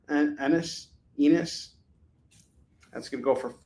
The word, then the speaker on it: Ennis: Crossed C-Day edition, Get Infected by Garth Ennis, and his name rhymes with the P word, Ennis.